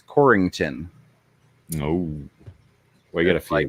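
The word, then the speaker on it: Corryton: is c-o-r-r-y-t-o-n corriton but if you pronounce it coryton everybody knows you're not from there because anybody that's from there throws ing into it it's corrington no we gotta fight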